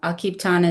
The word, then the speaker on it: Akiptan: And one question we always get is what does Akipan mean and how do you pronounce it? Um Akipan is the Lakota word for working together in a cooperative effort.